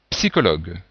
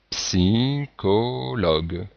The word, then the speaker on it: psychologue: bien il faut dire psychologue psychologue alors on remarque que l'y se prononce comme un I et on remarque que dans ce mot ch se prononce que alors qu'ici il se prononce che en fait tout dépend